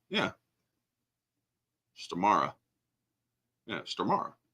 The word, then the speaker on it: Stormare: Frankenstein the E is pronounced as the e in end sta okay star stari all right yeah stara yeah star all right